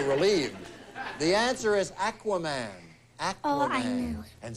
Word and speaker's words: Aquaman: It's Aquaman, not Aquaman.